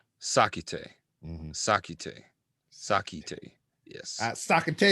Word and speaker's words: Sackitey: Sackity. Or Sackity. Sackity. It's pronounced, for the record. It comes from Ghana, West Africa. That's the name. My birth name. It's Sa Ki Te.